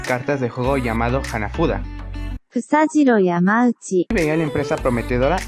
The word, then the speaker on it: Fusajiro Yamauchi: Fusajiro Yamauchi.